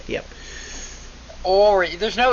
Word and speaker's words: Henri: Ori. There's no N? I thought you kept saying Henri. There is an N, but in French they don't pronounce it very much.